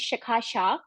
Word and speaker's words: Shikha: little about me uh my name is shikha for people who cannot pronounce it the easiest way to remember is Chicago minus the go all right I have